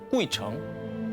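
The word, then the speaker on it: 鬼城: 다녀가기만 해도 장수한다는 전설를 가진 중국 발음으로 꾸이청.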